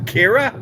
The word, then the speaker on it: Ciara: auto thrust kira now i've heard four different ways of pronouncing it pronounce it kira so we got about